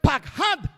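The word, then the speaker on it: פחד: El otro es pakhad con una D al final.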